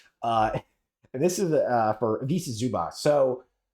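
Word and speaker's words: Ivica Zubac: Uh this is uh for Visa Zubas. So or Vitza Zubots I believe is how you pronounce it.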